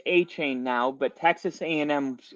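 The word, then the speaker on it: Achane: rabbit hole into Devon a chain that's how it literally on Texas a M's website it showed you how to pronounce it and it was like auh chain anyway I fell in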